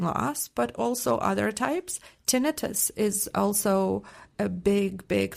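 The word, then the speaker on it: tinnitus: Tinitus is also a big big factor. Tenitis sometimes it's pronounced both ways and both ways are correct. So tinitus or tonitis is when you hear a sound that doesn't have an external source.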